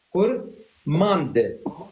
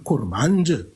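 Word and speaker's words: كرمانج: علم التفصيل اللغويستكس كور ماند ماند هي كورماند لكن الناس عندما تنطق بسرعه تقول كورمانج الدال مثل كلمه ارمند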